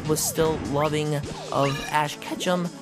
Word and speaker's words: Ketchum: Because, as we all know, as Charizard was once a Charmander, and he was still loving of Ash Ketchum, because it rhymes with ketchup.